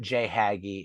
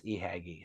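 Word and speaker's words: Ihagee: exactly like a j but uh it's not J hay it's it truly is eagy so you have the J hagy Exacta with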